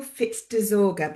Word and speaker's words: Fitz-Desorgher: So I'm Hi, I'm Fitz Dorgga, but that's impossible.